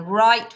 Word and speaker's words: write: orderly than i've done right which is a silent w we've got lamb and